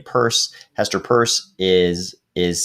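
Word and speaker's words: Peirce: and here hester pierce i guess she pronounced her name purse hester purse is is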